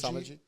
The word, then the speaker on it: Samaji: And so, how do I pronounce her name? Was it she Prithiji? Samaji? Samaji? It was Samaji.